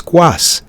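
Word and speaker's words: Skawss: The next one is from, so it was Squass, S-K-A-W-S-S. All right, I'll pronounce it that way now.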